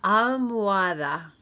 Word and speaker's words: almohada: La almohada. The H is silent. El almohada.